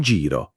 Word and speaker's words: giro: In giro, non in giro, ma in giro con la i chiusa.